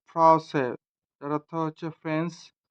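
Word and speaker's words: français: উদাহরণ ফ্রসে, ফ্রসে, ফ্রসে, যার অর্থ হচ্ছে ফ্রেঞ্চ।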